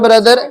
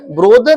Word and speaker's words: brother: I have 1 ब्रदर। ब्रोदर नहीं बेटे, कितना बार आपको कहता हूं? ब्रदर, प्रोनाउंस करो, ब्रदर, ब्रदर्स, सिस्टर्स, सिस्टर।